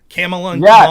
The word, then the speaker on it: Kamala: Kamala. I remember the weekend that everyone realized how to pronounce her name.